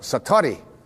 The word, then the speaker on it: satori: it's called excuse my japanese but it's called satori i'd love to say that sakurai s-a-t-o-r-i and